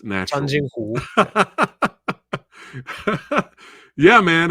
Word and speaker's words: Changjin: Okay, the battle at Lake Changjin. There you go. It's natural. Changjin-hu.